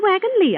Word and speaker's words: Wagon-Lits: dear this is the wagon Lee office why it's spelled wagon lits I know it's spelled lits but over here they pronounce Lee oh I begin to